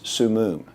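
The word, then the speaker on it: Summum: in the case of pleasant grove city versus su moon that's spelled s-u-m-m-u-m it was a group much like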